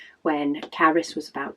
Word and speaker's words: Carys: But yeah, my second eldest, Caris, her name is spelt Carys, and a lot of the time people can't pronounce her name. For some reason, they pronounce it as Keris.